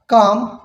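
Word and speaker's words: calm: For example, इसके example को हम देखते हैं, जैसे कि हैं चाक, काम, पाम, वॉक, कुड, हाफ और है टॉक। अब इन तमाम वर्ड्स में देखें, हमने जो एल है उसको प्रोनाउंस नहीं किया, उस एल को जो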